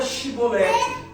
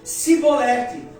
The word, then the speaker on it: Chibolete: assim: "Então lhes diziam: Dize pois tu a palavra chibolerte, porém eles diziam sibolerte, porque não podiam pronunciar aquela palavra".